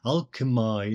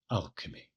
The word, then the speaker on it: alchemy: I would always be tempted to make an exception because alchemy is actually a beautiful word, maybe more beautiful than alchemy. But to keep it more or less consistent and to keep these pronunciations modern, even if the rhyme strictly then doesn't quite work, I have here pronounced it as we would normally today.